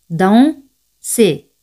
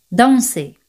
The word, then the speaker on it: danser: Danser. ER, que es ER, se pronuncian como E española. Danser.